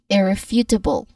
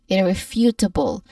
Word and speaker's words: irrefutable: The first syllable. It sounds like ear but shorter. few sounds like the word f e w as in a few people or then for the last two syllables you try you might want to keep the last two syllables soft tibble like table not table say it smoothly but firmly so we get irrefutable